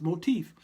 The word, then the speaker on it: motif: is that never seen it like that it's pronounced motif so I went to get tossed Center you